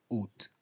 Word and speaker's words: août: Mirad qué interesante cómo el mes agosto los franceses pronuncian août. Pronuncian el diptongo o u, como su diptongo es su realización, o u, août, pero los franceses no pronuncian la a.